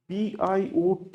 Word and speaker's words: Biot: So BIOT is pronounced as bio. So this is the name of a French engineer and scientist. So the T is silent.